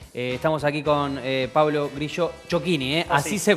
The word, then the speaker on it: Ciocchini: Estamos aquí con Pablo Grillo Chocchini, así se pronuncia, difícil, que es pero así.